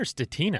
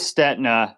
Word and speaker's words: Stetina: ways actually it is STNA uh it's a my ancestors come from Czechoslovakia and then all the Italians racing in Europe would think uh it's staa staa